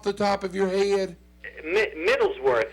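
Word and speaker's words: Middleswarth: Middlesworth. It's pronounced Middlesworth, but it's Middles instead of W-O-R-T-H. It's W-A-R-T-H.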